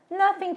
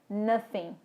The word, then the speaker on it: nothing: Não é nothing, com som de F. Olha como é que tá minha boca aqui. Nothing. Os meus dentes tocam os meus lábios. Nothing. Não é assim. A pronúncia correta é nothing. Nothing. A ponta da minha língua toca a ponta dos meus dentes e emite o A.